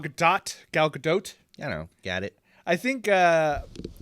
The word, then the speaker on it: Gadot: it i think uh i think the the proper way to do it is pronounce the t even though i want to say godot it's got i think got it got it she got